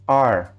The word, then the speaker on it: are: A pronúncia do are é nós disséssemos are, o are que a gente respira.